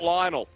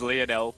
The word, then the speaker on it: Leonel: to say his name it's not lionel no it is leonel will be able to